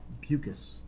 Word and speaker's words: Bucus: So as a reminder, in the final words of Counsel Reed, bucus. It's easy to remember because it rhymes with mucus.